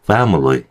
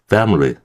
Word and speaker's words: family: 가족밀리도요. 밀리가 아니라요. 그리고 뒤에 있는이 아이조차도 사실은 얘도 이렇게 슈아로 발음해도 괜찮습니다. 그죠? family family이 정도 됩니다.